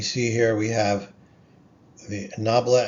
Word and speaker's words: nabla: This little upside down triangle is pronounced nabla, whose value at a vector x gives the direction and the rate of fastest increase.